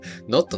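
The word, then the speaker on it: 納豆: all is Japanese for this pronunciation is clearly not correct note o is the correct pronunciation natto natto natto continue Reza so I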